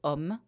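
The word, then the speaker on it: homme: yes and it's a it takes a lot of letters to write this short sound word um yeah it's never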